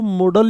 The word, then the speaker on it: modal: Need not, these are मोडाल्स, जिनको आप मोडल बोलते हैं। इसका प्रोनाउंसिएशन शुड बी मोडाल, क्योंकि इसका MODAL होता है, न कि MODEL होता है, इसलिए मोडाल होना चाहिए इसका।